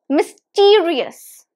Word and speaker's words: mysterious: on the screen it's mysterious mysterious Miss T re us so it has four syllables myth re us and this test is on the second syllable so it's mysterious mysterious repeat after me